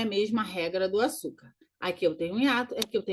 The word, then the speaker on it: Açúcar: Açúcar. Eu tenho ali um acento no U, na segunda sílaba. Açúcar. Então, eu tenho ali uma paroxítona terminada em R, ok?